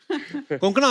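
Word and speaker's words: कोंकणा: बट आई am sure अगर आपको कोई पंजाबी मिले वो हमेशा कंकणा बोलेगा। कंकणा कोकणा क्यों साउथ में तो कण-कणा नहीं भी बोले।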